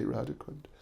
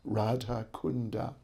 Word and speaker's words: Radha Kunda: sanskrit radicand we say radicand in sanskrit it is radha kunda that's actually the correct pronunciation that's the spelling which